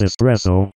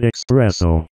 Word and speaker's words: espresso: It's espresso, not expresso. That mispronunciation annoys me almost as much as mischievous being pronounced mischievous. Did someone say cheese?